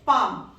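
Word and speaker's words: palm: है thick dot next पाम देखिए एल तो हमारा साइलेंट है इसकी साउंड नहीं है जिन लेटर्स की हमें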